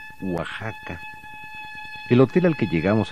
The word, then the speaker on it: Oaxaca: el sol Jaguar Oaxaca se pronuncia Oaxaca el hotel al que